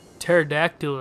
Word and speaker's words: pterodactyl: some smart stuff right pterodactyl is spelt with that P not a not a frickin a not a T as you would assume well hey look oh